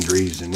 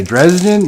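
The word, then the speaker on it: Driessen: I figure being in quarantine, you would have time to study the pronunciation of names. Driesen. Dan Driesen. Of course it's Dan Driesen. What did I say? Dresden?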